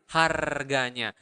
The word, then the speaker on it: harganya: The price is harganya. Remember in Bahasa, you really pronounce the R, so you need to roll your tongue and make that sound.